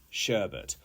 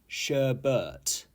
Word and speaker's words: sherbet: cat is super mischievous number five is sherbet sherbet not sheret okay and this is a type of sweet